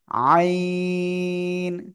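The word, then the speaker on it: عين: বাঁক হবে আওয়াজটা আইন আইন চারিদিন এই গলার মধ্যখানে হালকা চেপে বাতাস বন্ধ করে আপনার এই অক্ষরটা উচ্চারণ করতে হবে এ অক্ষরে কিন্তু কোন বাতাস বের হবে না আইন আইন সবাই একসাথে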